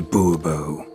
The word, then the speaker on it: Bourbon: bobo fine monsieur de bourbon the emphasis falls on the last syllable see now i'd rather